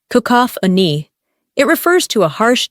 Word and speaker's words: cacophony: let's talk about sound the word is cacophony pronounced kakop an it refers to a